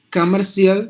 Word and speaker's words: commercial: of us but that's cial ending words must be just like the word show so you have to pronounce the word like this financial Fe show commercial here and if there are t consonants together in a word in the English language anywhere but British and American any language any style any variety um one of them is silent so that means you just start to knock it off to commercial here the